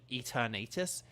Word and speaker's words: Eternatus: people have the products some people have the pronunciation eternatus it's like but it's like Eternal and eternal eternal um does anyone